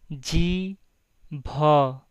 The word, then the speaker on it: जीभ: Tongue is pronounced in Hindi as G bh.